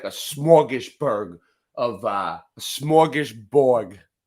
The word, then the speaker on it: smorgasbord: I want to know how the Canadians pronounce it. Oh, there you go. Unmute you. There you go. Smorgasbord.